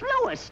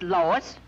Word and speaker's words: Louis: the plant lois lois my name is louis not lois chief wiz everybody in tripoli is my name wrong it's lewis l o u i s lois uh uh louise